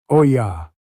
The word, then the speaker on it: olla: It is called an ola. Say it like the Spanish do. Oya.